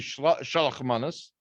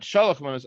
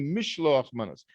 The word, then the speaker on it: mishloach manos: which literally means, and people call it like the Yiddish pronunciation shalach manos, or mishloach, or even Ashkenazi mishloach manos, but it's not shalach manos. It's actually mishloach manos.